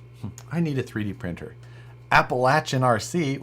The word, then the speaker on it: Appalachian RC: Appalachian RC, which is how you say that gentleman's YouTube channel name.